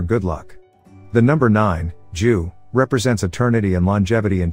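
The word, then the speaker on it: 九: good fortune or good luck the number nine jew represents eternity and longevity in chinese culture and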